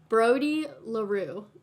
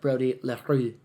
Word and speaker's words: Brody LaRue: You said it right. It's totally French because he's from Canada. Shout out to our fans in Canada. I think they say it like Brody LaRue.